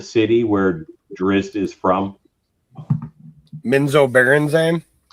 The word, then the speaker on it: Menzoberranzan: Menzoberranzan? Menzoberranzan. I say Beranazan, but I I'm probably really wrong. Officially TSR said that there's no wrong way to pronounce it.